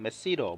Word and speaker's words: masseter: 네, 두 번째 깨물근은 교근이라고도 하고 영어로는 마세터 머슬입니다. 실제 영어에서 발음을 들어보면 메시러 뭐 이런 식으로 발음을 하는데, 저는 굉장히 한국식으로 발음을 합니다.